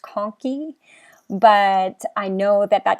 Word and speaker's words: conchae: is it's unfortunately the the pronunciation of this does not actually help with the spelling so uh to the inferior nasal conkey it's pronounced conky but i know that